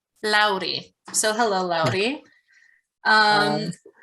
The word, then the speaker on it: Lauri: Or I don't, is there a way that I can pronounce that better? Lauri. Lauri.